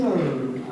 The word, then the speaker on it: Herb: My name is Herb. The gardener here, the H is silent, you know.